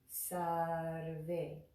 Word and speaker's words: Sarve: First word, very easy, Sarve. So I'll remind you that when we make the ra sound, sar, sarve, it's a little like a rolled R in Spanish.